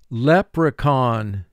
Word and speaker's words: leprechaun: its second sound and the second sound for ch is the k sound leprechaun leprechaun the leprechaun is a mischievous elf in irish folklore lep re con three syllables first syllable lep three